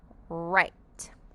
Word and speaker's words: write: in the word I write I am going to write my cousin a letter write don't forget in the word write the W stay silent and the E makes the I say it's name in the word WR